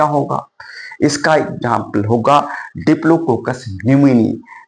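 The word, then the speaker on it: pneumoniae: इसका एग्जांपल होगा diplococcus न्यूमोनी तो डिप्लोको इसका जो डिप्लोकोस न्यूमोनी स्पेलिंग पी से पी साइलेंट होता है यहां स्पेस दे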